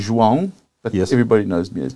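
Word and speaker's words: João: today his name is joa um no I'm mispronouncing that how do you really pronounce your first name how do I pronounce it well it's actually Juan yes everybody knows me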